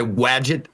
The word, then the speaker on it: Wadjet: It's like it's Wadget like Gadget. So it's WADJET is how you spell it.